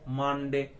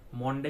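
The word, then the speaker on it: Monday: পারলো that it ওয়াজ মানডে morning মনডে কিন্তু নয় মানডে actual pronunciation is মানডে তাহলে সে যেন হঠাৎ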